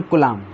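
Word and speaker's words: Coulomb: न कलाम नहीं बोलेंगे इसको बी साइलेंट होता है जब भी एम और बी होते हैं साथ में तो बी क्या होता है साइलेंट होता है तो न कलाम ठीक है तो देखिए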